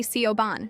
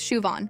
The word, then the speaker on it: Siobhan: It's Win and you call me Sioban," Siobhan added. "It's Shuon. My name is Sio Mahra, I said.